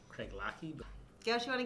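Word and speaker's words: Craigellachie: controversy I'm gonna snow this is pronounced Craig Lackey but don't you want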